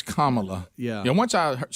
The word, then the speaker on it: Kamala: no that's right how to say it it's kamala yeah yeah once i heard someone said you